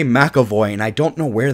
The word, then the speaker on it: McAvoy: keep wanting to say makavo and I don't know where that comes from maavi maavi M makavo it is McAvoy M aoy makavo it is makoy am I wrong okay